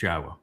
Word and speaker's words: Yahweh: It's Yahweh.